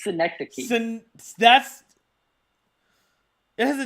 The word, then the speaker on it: Synecdoche: Sinadoche, New York. It's synecdoche. That's it has a D in it. Yeah, synecdoche.